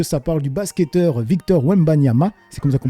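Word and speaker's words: Wembanyama: Ça parle du basketteur Victor Wembanama. C'est comme ça qu'on prononce he parce que moi j'écorche constamment le nom des gens.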